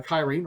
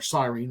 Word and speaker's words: Cyrene: who was from uh Kyrene or Cyrene as it's sometimes pronounced would be forced to cure naika actually uh he would